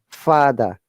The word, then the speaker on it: father: Okay, so yacht, father, arms. Remember, R is silent here. Father, burn, and army.